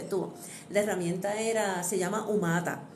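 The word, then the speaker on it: Humata: La herramienta se llama Umata. Umata se escribe con H, umata.ai.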